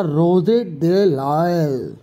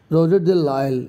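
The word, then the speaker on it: Rouget de Lisle: तो एक पोइट थे जिनका नाम था रोजेट दे लायल, ठीक है, ये रोजेट दे लायल, ठीक है, इसमें एस साइलेंट होता है, तो इसका आंसर हम इसे पर क्या पढ़ेंगे, रोजेट दे लायल, ओके।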